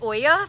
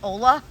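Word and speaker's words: olla: so up here my i think maybe it's supposed to be said oya pot i totally don't know how to say it o-l-l-a i called it ola uh i don't look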